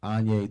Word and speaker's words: Anye: It does not look the way it's spelled, but Anye, think Kanye, no K.